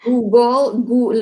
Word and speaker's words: Google: Pas Moi, j'entends Goggle. Google, le ou très prononcé, Google, ou définitivement, j'entends souvent Goggle, puis